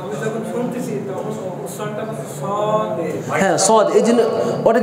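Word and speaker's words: صاد: এই যে আমরা এখানে সো দিয়ে বলতেছি সো না বলে সদ বলতেছি এর কারণ হচ্ছে এই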